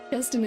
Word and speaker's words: Keston: Keston, that's it. Oh my god, what name? I was saying the name wrong. What name was I saying? Keston is the right name.